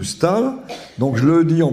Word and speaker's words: Staël: que j'ai laissé euh j'explique partout que madame de Stal sta e Trema l que j'ai longtemps prononcé madame de Stelle à cause de ce e tréma c'est madame de Stal donc je le dis